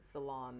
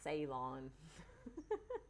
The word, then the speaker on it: Ceylon: So salon, not Ceylon.